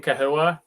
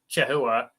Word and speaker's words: chahoua: So if you look at it as an English word, it should really probably be pronounced chahoua.